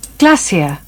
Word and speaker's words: glacier: গ্লেশিয়ার্স আমরা যদি American accent follow করি বা আমেরিকান প্রনাউন্সিয়েশন ফলো করি তাহলে এটার উচ্চারণ হবে গ্লেশিয়ার্স, বাট আমরা যদি ব্রিটিশটা ফলো করি তাহলে হবে গ্লেশিয়া। অনেকে আমরা এটা উচ্চারণ করি গ্লেশিয়ার, বাট এটার সঠিক উচ্চারণ হবে গ্লেশিয়ার্স ইন আমেরিকান অথবা গ্লেশিয়া ইন ব্রিটিশ।